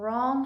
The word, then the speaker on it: wrong: have the silent g8 you have wrote and wrong have the silent W you have napped and